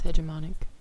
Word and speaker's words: hegemonic: The correct pronunciation is hegemonic.